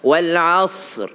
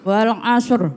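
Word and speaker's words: وَالْعَصْرِ: pertama sudah tahu kalahannya kadang kala Shad diganti Sin wal asr wal asr Iya maka dia harus Shad wal asr wal asr ya kemudian hukumnya adalah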